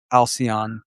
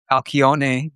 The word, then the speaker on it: Alcyone: sun touching Uranus, and that means also touching Alcyon or Alcyone, depending on how you want to pronounce this beautiful central star of the Pleiades.